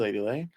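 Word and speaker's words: Leidy Lei: Where can we find you, Lady Lay? I'm on all socials on It's Lady Lay. Lady is spelled Leidy, and Lay is spelled Lei.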